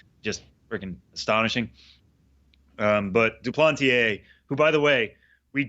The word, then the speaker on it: Duplantier: Um, but Duplanteier, who by the way, we checked with that.